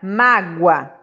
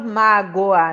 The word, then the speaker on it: mágoa: aqui ó oi ó na palavra mágoa eu não falo magoa né eu falo mago